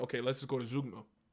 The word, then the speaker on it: Zeugma: Most poems are like, okay, let's just go to Zeugma. Zeugma it's pronounced Zeugma, is a fun little device you don't see often in contemporary poetry.